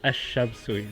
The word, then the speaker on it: الشمس: So we introduce a definite article is Ash-Shamsu, the sun letters.